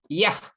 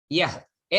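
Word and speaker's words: यः: So it will be pronounced something like Yah. Yah. A half Ha is there. Yah. Or in the beginning, you can pronounce it as a full Ha. Yaha.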